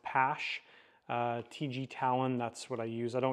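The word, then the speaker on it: Paasche: So here's the, I think it's pronounced PASH, TG Talon, that's what I use.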